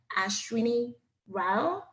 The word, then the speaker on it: Ashwini Rao: Ashwini Rao. Did I pronounce it right, doctor?